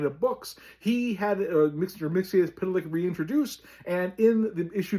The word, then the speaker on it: Mxyzptlk: the Superman line of books he had Mixer Mix Pitilik reintroduced. And in the issue number 11 of volume two of Superman, the character does spell his name out phonetically. It tells you it's Mr. Mix Pitilik and that is the final word on how